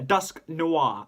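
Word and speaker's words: Dusknoir: Yes, a Dusk Noir. I had to say it like that because noir is how it's said in the anime when Conway used it.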